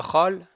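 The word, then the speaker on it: כל: Le chol, il va se prononcer entre un cholam et un kamatz.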